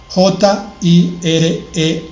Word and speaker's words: Jireh: Se escribe, ya dijimos ayer, YHWH, espacio, JIREH final, Jireh. Esa H suena como una J no muy fuerte, Jireh.